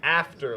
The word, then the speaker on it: after: podcast is Video Game After Live. And the after has a Because- silent H at the start of it. Because this Have isn't to live. No, it's like Spanish. The H is silent, which I hate, Everything by the else way.